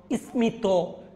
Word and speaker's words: স্মিত: আমি বলেছিলাম কিছু সংস্কৃত শব্দে, কতিপয় কয়েকটা, এগুলাতে মফলা বজায় থাকবে। কুষ্মাণ্ড, স্মিত, কাশ্মীর, এগুলাতে বজায় থাকবে।